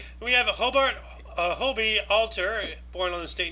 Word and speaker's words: Hobie: I know okay that makes sense it's actually Hobie Hobie okay yeah that's the manufacturer's name yeah